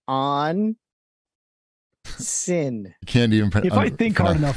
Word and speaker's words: onsen: It's pronounced on sin.